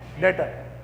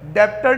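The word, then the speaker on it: debtor: डेटर। डेप्टर नहीं कहेंगे। ये बी पढ़े लिखे और गवारों का फर्क है। इसको ऐसे बोलेंगे, डेटर। क्या बोलेंगे? डेटर। पर लिखेंगे कैसे? ऐसे, डेप्टर। B silent.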